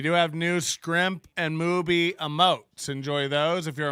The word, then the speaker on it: Mooby: It's pronounced Mooby.